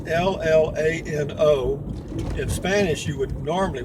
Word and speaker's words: Llano: it Atlanta River it's l-l-a-n-o in Spanish you would normally when it's two L's together like that you pronounce that y like Yano and that would be the Spanish pronunciation Yano but the Gringos screwed